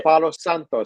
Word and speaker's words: Palo Santo: Let me say it with a little more accento. This is a Palo Santo stick.